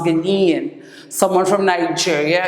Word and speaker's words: Ghanaian: it's from madagascar somewhere from ghana is a ghanaian see you don't take out the eight a i a n it's pronounced ghanian someone from nigeria it's a nigerian someone from